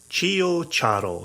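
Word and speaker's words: CioCiaro: So it's Amaro, Amaro, separately. Chio, CIO, separate, CIARO. Amaro Chio Charo. And if you can start to say it like that, you already sound like you know what you're doing.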